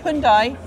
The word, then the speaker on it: Hyundai: I hate to say that because after the Hyundai, see, I'm still saying it right.